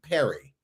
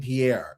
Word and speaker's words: Pierre: Sometimes people pronounce my name Perry and I don't that part boggles me. Yeah. I'm like, we have a state capital named Pierre and you are still messing up with that.